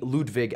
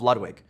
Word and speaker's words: Ludwig: his music enough that they called me Ludwig at birth. And then I bastardized it when I was a small American child and called myself Ludwig, which is not technically how you pronounce it.